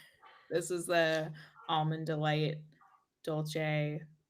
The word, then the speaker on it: dolce: This is the almond delight dolce. How do you pronounce it?